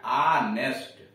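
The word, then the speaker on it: honest: जैसे पहला ही ये ऑनेस्ट मैन, ऑनेस्ट का देख रहे यच से लिखा है लेकिन यच साइलेंट है, और जब यच साइलेंट है तो इसका उच्चारण हो रहा है ऑनेस्ट, आ से स्वर से वावेल से शुरू हो रहा है।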